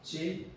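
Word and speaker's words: ち: 근데 이제 요 발음이 아니고요. 치 발음입니다.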